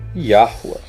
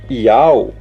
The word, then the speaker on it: Yahuwah: É tão simples, olha o nome aqui. Yahuwah. Essa é a verdadeira pronúncia do tetragrama. Vocês querem falar de tetragrama? Essa é a verdadeira pronúncia do tetragrama. É impossível ser Yau, porque vocês, na superficialidade